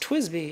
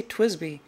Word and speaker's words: TWSBI: But people have told me in the comments, no, it's pronounced Twisby. You're supposed to say Twisby, which is fine.